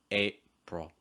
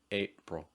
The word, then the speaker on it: April: Notice the second syllable too. It's more pro. It's not pril. It's not pril. It's pro. April, April.